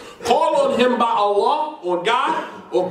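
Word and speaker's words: الله: The second lamb, there's a shadda on Allah's name, so it's removed. Because if you put a shadda on the lamb, that means that you pronounce it twice.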